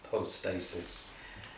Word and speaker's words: hypostasis: Now, that word substance, hypostasis, or sometimes you can pronounce Greek when it's a Y, it can be a U as well, or hypostasis. Depends on how you like to pronounce it, but whatever the case,